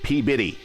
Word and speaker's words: Peabody: The other town in Massachusetts that gets me is Peabody. No. Peabody. But it's spelled Peabody. Like I don't know where Biddy becomes body or body becomes Biddy, but there it is.